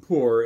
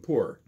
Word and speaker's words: Mpur: of yours the name of the language is poor and that's spelled mpur it's a tonal language in the